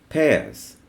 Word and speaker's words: Pears: the transparent soap is also tears not Pierce it is pears sir common is a proper noun pears okay now I lead